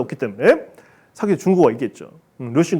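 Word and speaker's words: 魯迅: 루신 같으면 옛날 노신 근대 소설가 있잖아요. 그걸 루신이라고 하잖아요. 원래 발음대로. 원래 그 사람이 저수르원인데 주수원인데 원래 발음대로 발음해줘야 돼. 루신이라고 해야 돼.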